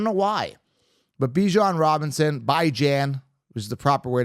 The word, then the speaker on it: Bijan: But Bijan Robinson, Bijan, which is the proper way to pronounce it.